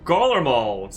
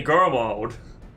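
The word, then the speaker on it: Garlemald: stay garlamald's new terror oh gollar molds that's how you pronounce it i was pronouncing girl mode what meaningful resistance can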